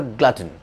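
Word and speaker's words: glutton: ये वर्ड, इसका प्रोनाउंसिएशन जो सही होता है वो था ग्लटन.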